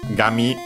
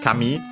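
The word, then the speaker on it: 紙: writing because after that we have gummy actually kami. This one I'm sure is accented uh on its own uh on the last syllable.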